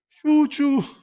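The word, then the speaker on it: 中: ni abbiamo detto shuchu chuu e quello lì è naka che però si pronuncia chu gogi alle 5 gogi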